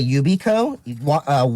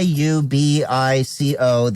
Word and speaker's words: Yubico: So spell it. They are made by Yubico, Yubico.